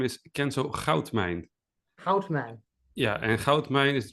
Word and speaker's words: Goudmijn: Goudmijn.